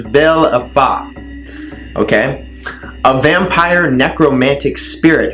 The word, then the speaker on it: Valefor: of valve 4 so Balfour is pronounced as Bell of BA okay a vampire necromantic